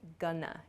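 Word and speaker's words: gonna: both of these Expressions going to shortens to Gana g o n n a gunana I'm GNA I'm not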